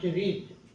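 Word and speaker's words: read: participle form principal verb রিড এটা ভারব এটা এটা পাস্ট পার্টিসিপল ফর্ম রেড এর উচ্চারণ হবে রেড হ্যাঁ রেড হ্যা রেড এটা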